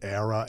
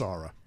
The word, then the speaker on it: Ara: about the chronicles of do I say it right ARA yeah and I was actually going to compliment you on that because I get Era ARA it's ARA thank you mle tff